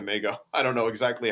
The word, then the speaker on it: Magao: was from Portugal, and it was technically pronounced Magao. But over generations here, somehow it translated to Magao.